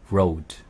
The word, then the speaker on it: road: 그 다음에 load. Load. L. L 발음이고 R 발음은 road. Road.